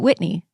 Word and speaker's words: Whitney: raised in California have always pronounced it Whitney without an audible H does that mean the